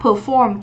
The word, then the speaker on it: perform: trình diễn, thể hiện, mình đọc là perform, trọng âm 2.